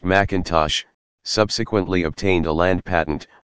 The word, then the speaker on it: M'Intosh: had inherited the land the defendant William m'intosh pronounced McIntosh subsequently obtained a land patent according to the